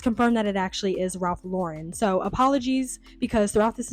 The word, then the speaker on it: Ralph Lauren: I realized that I kept saying Ralph Lauren when the whole time it's pronounced Ralph Lauren.